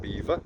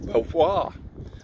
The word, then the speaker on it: Belvoir: a walk around the Vale of Belvoir, or Beaver, or Belvoir. I'm sure we'll find out at some point today how it's pronounced.